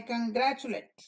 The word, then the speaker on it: congratulate: late to school late but here congratulate I congratulate you it's not late it's late congratulate why because this was the accented syllable congratulate congrat driver was the accented part congratulate so when this is unaccented we sort it and say congratulate make glass metals and